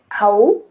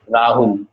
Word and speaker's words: Rahul: Raul? Raul? How he can I is say Rahul. that? You can say Rahul. Say it Rahul.